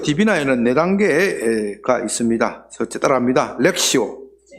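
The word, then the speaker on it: lectio: 렉시오 렉시오.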